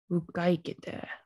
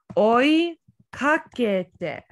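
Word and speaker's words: 追いかけて: Ukaikete. Something's a little wrong about that pronunciation. Ukaikete. Ukaikete. This would be oi kakete.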